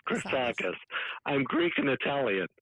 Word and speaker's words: Chrisagis: So it's pronounced Chrisagis. Chrisagis.